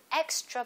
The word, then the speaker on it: extra: 그렇기 때문에 담요 blanket인데 한 장 더 추가적으로 an extra blanket. May I have an extra blanket, please? May I have an extra blanket, please? 여기 extra 이 단어에서 발음 강세는 앞에 X에 있습니다. Extra, extra.